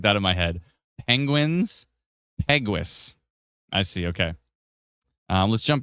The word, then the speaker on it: Peguis: Peguis. Peguis. Yeah, Peguis. Yeah, so think penguin, but Peguis. Exactly what I was literally trying to calculate that in my head. Penguins, Peguis.